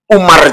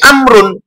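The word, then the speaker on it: عمرو: dari Ain mim dan ro kan bisa dibaca Umar juga padahal namanya bukan Umar tapi amrun Amrin Nah untuk membedakan nama Umar yang EE konotasinya adalah sayidina Umar maka untuk selain sayidina Umar supaya dibacanya amrun atau Amrin ditambahkan wawu setelah ro makanya di sini EB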